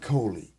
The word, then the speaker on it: Coley: And Jimmy came up and he said, "John Ford Kohley." That's That's your name. Take a take a nail out like Red Foley.